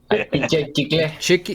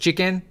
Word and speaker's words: chicle: Chicle. Is it actually pronounced chicken? No, it's chicle.